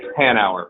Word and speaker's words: Hanauer: an hour is that right Hanover yep an hour but people pronounce it wrong my whole life if it